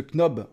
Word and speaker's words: knob: Alors vous voyez, on vous présente ce knob en knob, on appelle ça, on ne prononce pas le K. Le knob en exclusivité.